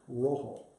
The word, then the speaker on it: rojo: Rojo. Rhymes with ho-ho.